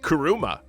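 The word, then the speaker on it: 車: car screening in Japan the term car is pronounced differently it's called karuma and no we're not referring to the demon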